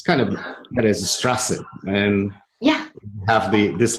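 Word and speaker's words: Straße: B, and somebody said it's pronounced like a double S. Yes, it's kind of that is a Strasse, and have this letter on it's equivalent to double S.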